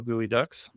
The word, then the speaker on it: geoduck: Go Gooey Ducks.